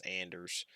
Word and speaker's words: Anders: weird relationship I mean I pronounce his name wrong I'm sorry it's Anders me and Anders we